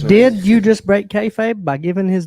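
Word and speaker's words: kayfabe: it yeah KFA yeah Cafe Like You Gotta Eat I thought it was kfabe Cafe no Cafe k-a-y-f-a-b-e you pronounce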